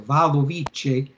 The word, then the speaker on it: Wadowice: in the city of Wadowice, I guess you say that. The W in Polish, as far as I understand, is pronounced as a V. So Wadowice, and it had a large Jewish population.